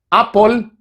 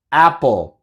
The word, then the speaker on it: apple: así no se pronuncia se pronuncia up o apple apple escuchas la diferencia hay un mundo de